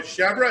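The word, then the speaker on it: chèvre: Chevre is how you say it in French. I think it sounds better as chevre, but it's chevre in French. That's just the French pronunciation. But it's goat's milk cheese pronounced in French.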